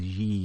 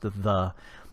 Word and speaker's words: ye: You don't pronounce that as ye. It's pronounced the, because the Y was the original TH.